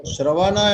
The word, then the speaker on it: Shravana: Shravana and Manana, you said it right.